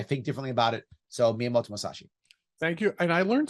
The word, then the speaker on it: Miyamoto Musashi: So Miyamoto Musashi. Thank you. And I learned something I had never heard of. Mr. Pronounce his name again? Miyamoto Musashi.